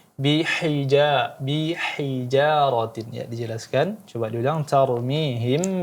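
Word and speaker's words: بحجارة: Kemudian bihijarati, ha yang kecil, ha tipis di sini dijelaskan lagi. Bihijaratin, ya dijelaskan.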